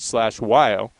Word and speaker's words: Hlatshwayo: Well, /Weil, got to talk to him before the game, and if you look at how you spell his name, you would never in a million years guess that you pronounce it /Weil.